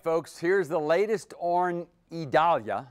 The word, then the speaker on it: Idalia: All right, folks, here's the latest on Idalia. That's how we're being told to pronounce it, Idalia.